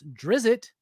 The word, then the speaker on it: Drizzt: ] about d d I know how to pronounce drizzit I believe because I was corrected